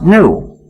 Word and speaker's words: gnu: so and even better according to the dictionary the g is silent and the word is pronounced new so every time you